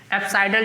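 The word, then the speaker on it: apsidal: इधर देखो ध्यान से, एप्साइडल डिस्टेंस बोलते हैं, एप्साइडल डिस्टेंस, ठीक है।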